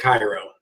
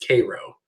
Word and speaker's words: Cairo: I messed it up I was reading left to right and I said Cairo but it's Cairo phonetic spelling looks like